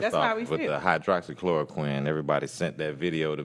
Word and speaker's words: hydroxychloroquine: i'm saying now i've it says hydrochloroquine yeah but it's hydroxychloroquine yes hydroxyl now that